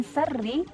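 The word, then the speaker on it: شر: Bukan min syarri tapi adalah min syarri. Syarri, sya, shi, shu, bash. Bacanya sya, bukan sa ya.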